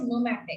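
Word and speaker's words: pneumatic: न्यूमैटिक bones are there, P is silent and the term is न्यूमैटिक।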